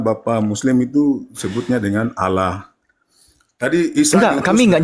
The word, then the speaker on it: Allah: dalam huruf latin menjadi a l l a h itu tetap pembacaannya mengikuti kaidah bahasa Arab bertafkim dia ditebalkan pengucapannya anda tahu enggak arti